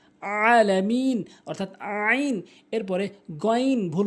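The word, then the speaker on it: العالمين: রাব্বিল আলামিন বলেন যারা আলামিন বলেন তাদের নামাজ হয় না বলতে হবে আলামিন অর্থাৎ আইনটি হলকের মাঝখান থেকে উচ্চারণ করতে হবে আলামিন অর্থাৎ আইন এরপরে গন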